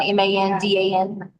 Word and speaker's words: Mandan: right it's just Mandan m-a-n-d-a-n I think it's funny AF that the address of their house is Mandan which rhymes with Landon and she hates Landon